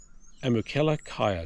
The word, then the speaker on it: Amukela Kaya: stay where we are and i'll try to pronounce it fantastic host here kimberly and it's amukela kaya so it's a-m-u-k-e-l-a space k-a-y-a great value place